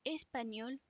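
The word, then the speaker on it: espagnole: Ici, la nationalidad espagnol ou espagnol con una E. Español para chico. Español con la misma pronunciación pero con una E al final.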